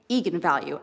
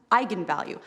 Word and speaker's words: eigenvalue: the directors that yes that is how you pronounce it so I went out there and said that's right egon value and then apparently the internet went nuts when it came out because apparently it's pronounced eigenvalue that's how you're supposed to say I'm the